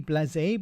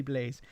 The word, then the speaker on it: blasé: Blasé. I know, Daily Blasé, but sometimes he says Blaze. He says, call me Daily Blaze. It's more correct. I think with the accent on the E, you have to say Blasé.